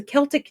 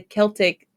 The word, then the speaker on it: Celtic: I should have thought about that because it's a Celtic name, and we don't pronounce the Celtic like word With an S, Celtic.